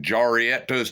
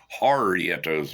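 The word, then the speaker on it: Jarritos: It just looked like Jarietos to me. I'm a redneck from Missouri, but I guess it's from Harietos with the H.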